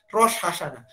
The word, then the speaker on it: Rosh Hashanah: Pengucapannya nggak salah. Rosh Hashanah.